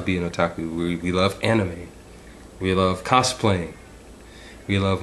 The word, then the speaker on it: anime: for the record well most people pronounce um pronounce it as anime it's actually anime but either way people will know what you're